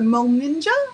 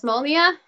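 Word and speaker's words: Molnija: Is the Molninja, am I saying that correctly, tattoos? Is that correct? I believe it's Molnia.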